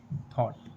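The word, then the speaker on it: thought: कॉट, फॉट, टॉट, what, थॉट। इन सभी words में word के लास्ट में जी एच टी लेटर आया है और जी एच टी लेटर में जी एच साइलेंट है।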